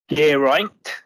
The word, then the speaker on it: Gerraint: Gerraint, which is like Pierpont with a hard G.